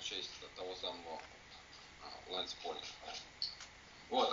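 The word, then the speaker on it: Pauling: Хотя, по идее, мы же говорим полинг, а не паулинг. Не знаю. Ну, назван он в честь того самого Лэнс Полинг.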